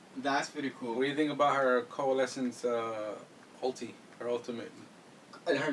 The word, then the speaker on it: coalescence: What do you think about her coalescence ulti, her ultimate? Her name is very. I don't know how to say it. Can you say that? What is it again? Coalescence. Coalescence? Wow, it sounds like evanescence.